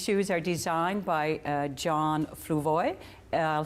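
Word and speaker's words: Fluevog: And these shoes are designed by John Fluvoy. I'll spell that F-L-U-E-V-O-G, John, in case you're shopping in Toronto or other places.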